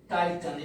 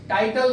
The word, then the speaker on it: Titan: टाइटन Sonata, टाइटन TITAN, sorry टाइटन, spelling को इसको ढंग से देखो, TITAN, टाइटन, टाइटल नहीं है, टाइटन सोनाटा।